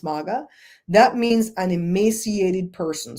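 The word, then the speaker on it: mawga: In my Creole language, the word maga, but it's spelled M-A-W-G-A, maga, but it's pronounced maga.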